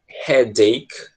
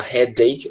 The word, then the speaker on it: headache: Você pode pronunciar headache, como se fosse um D mesmo, tá? Headache, ou você pode falar headache. Geralmente, eu acho que eu já expliquei isso pra vocês, né? Coisa de americano.